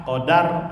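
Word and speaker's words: قَدَر: Beda kalau qadar, kalau dibacanya da fathah, qadar artinya takdir.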